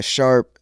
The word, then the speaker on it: Sharpe: But last name is Sharp, very simple to the point.